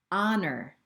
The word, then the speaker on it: honor: it our and our honor and honor honest person and honest person here we never hear the sound of the h but in other words